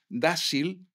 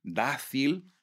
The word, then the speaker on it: Dácil: sí es que decís, decís dáil, decís decís tasacorte, decís guashimara. Y sí, ¿cómo tenemos que decir? Pues tenéis que decir dácil, tazacorte, guazimara. Concretamente puso ejemplos de de de pronunciaciones erróneas por un peninsular que desconoce la etimología de esas palabras. Guasimara, dáil y tasac nunca se pronunciaron con Z en Canarias.